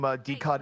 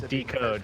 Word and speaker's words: DCOD: DCOD is pronounced D as in D, cod as in the fish. We don't know if the cod part... I'll just start saying decode.